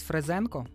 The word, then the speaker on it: Фрезенко: вчора ще додав Фрейс Фрезенко, Знаєте такого чувака? Так, да, я послухала Нагло цей альбом. Знає. Фрезе, Фрезенко. Фрезе, Фрезенко. Фрезе, Фрезенко. Наголос на «е».